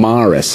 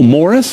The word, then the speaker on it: Morris: and I was pronouncing my last name in correctly for so many years my dad's from Baltimore I'm from Philly so I would always say Maris have you and people like what is is it m a r r I'm like no it's m o they like oh Morris have you ever seen Greece